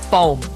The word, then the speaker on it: pão: I'll do my best to not butcher it because it's in Portuguese. It's pão. It means bread in Portuguese. Like the one you eat, bread, pão.